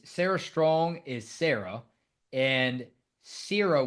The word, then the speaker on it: Cierra: Sarah Strong is Sarah and Cierra Williams, like for sear as you're searing a steak. That is the correct way to pronounce her name, not Sarah Williams.